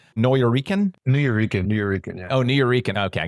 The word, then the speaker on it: Nuyorican: I'm going to try and pronounce this correctly. Nuyorican? Nuyorican, yeah.